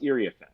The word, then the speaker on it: Iriafen: Or in the case of Kiki, who we all thought was Iriafen, and then we realized it's Iriafen. To be able to say, hey, Kiki made clear before the start of the season, it's actually pronounced Iriafen.